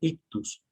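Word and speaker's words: ἰχθύς: más antiguos porque porque pese en griego se pronuncia o se dice ictus y sus iniciales en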